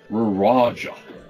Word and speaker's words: Ruraja: Far to the south along the range are rival cities Ruraja, which is R-U-R-A-J, and southeast of it, Braloch, which is B-R-A-L-O-C-H.